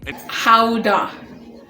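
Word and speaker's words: Gouda: nation how to cheese yep that's how you pronounce it guys oh howda how dark okay we're learning keep in mind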